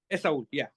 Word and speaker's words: Esaul: Esaul, yeah.